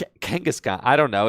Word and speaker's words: Kangaskhan: Kongaskhan. No, is that how you say it? Kangaskhan. It's definitely Kangaskhan.